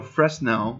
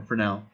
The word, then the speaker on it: Fresnel: It's spelled Fresnel. Yeah. So Fresnel, or Fresnel, is a kind of thing that was, it's